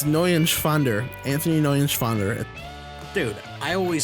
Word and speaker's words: Neuenschwander: You didn't pronounce it right. That's up. Anthony Nunschwander. It's N-E-U-E-N. It's Neuenschwander.